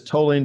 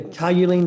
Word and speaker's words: toluene: This is toluene disocyanate. Is that right? See under product name? Yeah, toluene disocyanate.